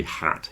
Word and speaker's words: hat: wood Hut so hat when you say hat you have to smile more okay it's more tense in your cheeks and your tongue is touching your bottom teeth if you want to say Hut with a u you relax your face a little bit more and your tongue moves back a tiny amount and you say Hut hat Hut there's